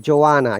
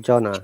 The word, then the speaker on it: Joanna: And it is Joanna, yeah? Nishat, not Jonah.